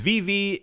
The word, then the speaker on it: VeVe: That is VV, it is spelled VEVE.